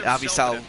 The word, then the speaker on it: Avisail: I didn't know how to pronounce his name, but Avisail Garcia, okay.